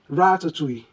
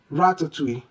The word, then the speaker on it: ratatouille: The correct way to pronounce this is ratatouille. Ratatouille.